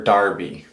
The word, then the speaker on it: Derby: Only Derby or Darby also. Maybe that's just accent. But a lot of guys I've watched have pronounced it Darby. And maybe that's just accent differences.